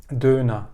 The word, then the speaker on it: Döner: bir kere telaffuz kelime Almancada döner olarak söylenmiyor eee bir şekilde yazımını Almanca gördüğünüzde bunu e döner gibi okumadıkları telaffuz bir şekilde sapmış vaziyette yazılımı hala yani yazılışı Aynen korunuyor döner ama okunuşu Almanya'da duna yani ık de der der de de DNA Eee bizim için komik